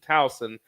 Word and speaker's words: Towson: I believe Towson is the proper way to pronounce that.